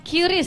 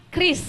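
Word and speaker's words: QRIS: sama orang Bang hah Bacanya jangan curiis tapi Kris Oh Kris Oke Kris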